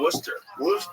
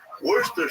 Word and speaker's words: Worcester: Oh, Worcester.